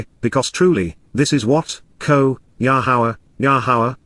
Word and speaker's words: Yahweh: For indeed, because truly, this is what, Yahweh, the proper pronunciation of the name of Yehovah, our Eloah, God has